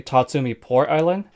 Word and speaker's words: Tatsumi Port Island: I just realized I've been mispronouncing the location of the entire time. It's actually Tatsumi Port Island.